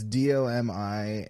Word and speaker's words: Domi: called not tight it's d-o-m-i and then uh Domi for the the girl is that yeah that's that's how uh she pronounces it yeah it's like Dominique or something like she's French so it's like Dominique